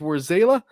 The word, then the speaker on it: Warzala: I'm getting it right so where's Allah or zayla which one is it because I've heard it pronounced both War zayla where's zayla okay see live on the show you heard it here it is where zayla and we are going